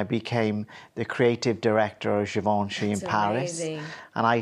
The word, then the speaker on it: Givenchy: Givenchy. Givenchy.